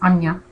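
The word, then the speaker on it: आज्ञा: The sixth chakra, also known as the third eye chakra, and in Sanskrit it's pronounced anya, or to perceive or to know.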